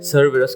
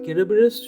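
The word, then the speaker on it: Cerberus: দেখুন, এটা ডিপিক্ট করে, কেন কি যতখানি আমরা জানি সারবেরাস, কেরাবেরাস বা যেভাবে আমরা প্রোনাউন্স করি, গ্রিক প্রোনাউন্সিয়েশন কেরাবেরাস সবসময় খুব প্রবাবলি এনশিয়েন্ট গ্রিক ল্যাঙ্গুয়েজে কেরাবেরাসের মানে হচ্ছে স্পট।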